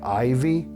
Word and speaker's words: IYV: And today we have this IYV, I believe it's pronounced Ivy guitars.